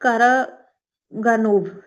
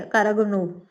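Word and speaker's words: Караганов: Year 2023 में एक मशहूर रशियन डिफेंस इंटेलेक्चुअल है, सर्गी कारा सॉरी मैं इसका प्रोनाउंस नहीं कर रही हूँ, सर्गी कारागानोव, ठीक है, कारागानोव।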